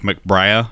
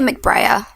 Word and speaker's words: McBrayer: I thought it was McBrayer. Yeah. What do you think, Nadeshda? How do you pronounce it? I would say McBrayer, but I always pronounce things wrong, so you should probably go with That's McBrayer. That's true for McBrayer.